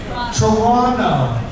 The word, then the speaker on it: Toronto: And it's a silent T? Toronto. I have gotten up here and sounded like an ignorant buffoon for years. Hey, Toronto!